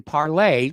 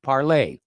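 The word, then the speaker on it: Parler: uh Free Speech application parlay I know a lot of people call it parlor because of the way it's spelled but it's the French pronunciation the word means speak parlay okay parlay Vu FR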